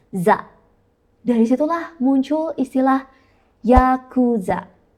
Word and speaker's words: za: Dalam bahasa Jepang, 8 itu dibacanya ya, 9 itu dibacanya ku, dan angka 3 itu dibacanya za.